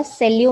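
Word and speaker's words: salut: सेल्यू में T silent है.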